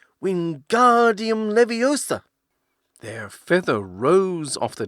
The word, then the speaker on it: Leviosa: "Wingardium Leviosa!" he shouted, waving his long arms like a windmill. "You're saying it wrong," Harry heard Hermione snap. "It's Wingardium Leviosa, making the ga nice and long."